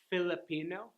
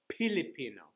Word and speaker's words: Filipino: Like instead of Filipino, they'll say Filipino.